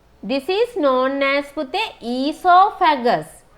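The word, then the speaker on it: oesophagus: This is known as pute esophagus. So we are writing it O-E-S-O, right? O is silent. එතකොට කියවන්නේ esophagus නෙමෙයි, esophagus.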